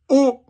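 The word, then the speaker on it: haut: say up in French we say oh like the letter O don't tell me that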